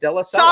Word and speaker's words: Della Salla: Della Salla.